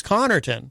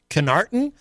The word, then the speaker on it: Connerton: In high school, my nickname, my last name is Connerton. Yeah. But no one knew how to say it. In high school, first day of school, teachers would always say Canarton.